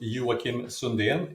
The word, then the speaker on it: Joakim Sundén: Sweden born and raised my name's actually pronounced Yim sundan in in Swedish but uh and uh